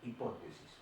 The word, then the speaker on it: hipótesis: Bien, el tema de la clase de hoy empezamos con hipótesis, con H, hipótesis y acento en la O, hipótesis.